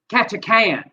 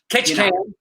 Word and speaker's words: Ketchikan: All right, and by the way, Tot said it's pronounced Ketchikan. Ketchikan.